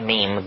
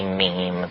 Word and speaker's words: meme: and they're like genes the word is deliberately constructed to rhyme with gene and so when I say every woman should have considered having only one child that to me and that meme goes out into society